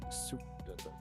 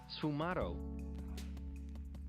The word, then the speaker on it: sfumato: For these features, Leonardo used a technique known as Sfumato.